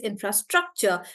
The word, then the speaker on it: infrastructure: Maybe it's on struck. Infrastructure. It sounds right like that, right?